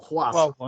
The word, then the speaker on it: خبصة: الباء تلفظ واو واو، خواصة. لأن حطينا تحتها نقطة كبيرة صارت واو.